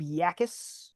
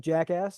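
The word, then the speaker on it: Jacas: Uh, Patriots drafted Gabe Yakis. Looks like jackass. It's pronounced Yakis.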